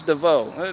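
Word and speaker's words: Devereaux: That bit with that E-A-U-X, M and Z, that should have end with an X at it. It ends with an X, but it's pronounced to end with an O.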